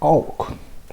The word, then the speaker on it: AWK: talk about a programming language called oak awk oak is um that's how you spell it awk okay it's a very